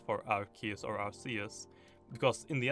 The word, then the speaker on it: Arceus: It's actually the proper pronunciation of Arceus is Arceus. The reason why they don't have Arceus is because in the UK, an Arse is a butt, A-R-S-E.